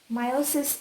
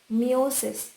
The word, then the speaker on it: meiosis: Meiosis, in most of the places it is pronounced as meiosis, but it is actually pronounced as meiosis.